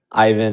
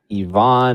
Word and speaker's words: Ivan: Yeah, and you're like pronouncing Ivan as Yvonne, and I'm like, I don't. You probably know better than I do, but that's probably right. Right? I'm definitely being the American pronunciation.